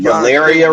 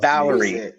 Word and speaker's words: Valeria: Valeria Richards. Valeria Oh, Richards. I mispronounced it wrong. Not Valerie.